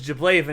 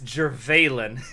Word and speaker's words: Jervalen: We said it was Jablaven, it's Jervalen.